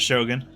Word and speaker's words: Shogun: oh, The pronunciation is Shogun. Shogun.